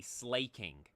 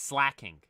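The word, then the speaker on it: Slaking: pronounces stuff like slacking I used to always say slaying but I believe it's slacking because you think slack off it's spelled the same way and it's literally the same Evolution Evolution line so you assume each uh letters pronounced the same specifically the vowel the first a slack go or slay King so I say slacking now and then um Rayquaza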